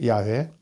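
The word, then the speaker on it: 야훼: 이스라엘 유대교 외신 그 야외에 우리가 여호와 라고 하는데 원래 이제 야외 라고 발음을 하죠 그 일신 야외 라는 에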